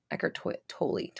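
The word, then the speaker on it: Eckhart: it was my ego as um twilight describes eckert that's how you say it totally totally that's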